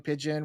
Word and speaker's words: Pidgin: Hawaii they talk Hawaiian Pidgin, which is kind of like it's like broken English, right? Pigeon, like the bird.